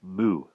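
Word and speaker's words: 木: In Mandarin, it is pronounced mu.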